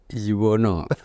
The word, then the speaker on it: Yuwana: Kalau Pak Yuwono. Pak Yuwono. Walaupun tulisannya A ya Pak ya. Karena saya tadi lihat itu Pak Yuwana, tapi membacanya Pak Yuwono ya.